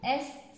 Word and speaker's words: est: Seulement le D ne se prononce pas. Les autres, on prononce la fin. Sud, est, ouest, on prononce la fin du mot.